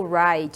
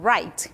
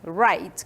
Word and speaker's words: write: Não pronunciamos a letra W ali, tá? O W não é pronunciado, eu não falo o write, eu falo write, write, que é o verbo escrever, certo?